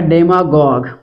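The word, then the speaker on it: demagogue: मैं बता देता हूं एक है डेमा गॉग डेमा गॉग इसमें यू इ साइलेंट है अब ये वर्ड कहां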